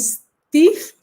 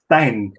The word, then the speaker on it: Stijn: Do the introduction to Priscilla and Steve. I think I said it properly. Yeah. Almost. It's pronounced Stijn.